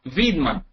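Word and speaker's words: Weidmann: cat for saying that it was Weedman I think is pronounced in German y v viman says the European Central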